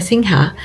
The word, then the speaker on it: Singha: little statue of a Singha, the winged lion that is the iconic king of mythical beasts in Thai culture. It's also what Singha beer is named after, although the locals pronounce it Sing.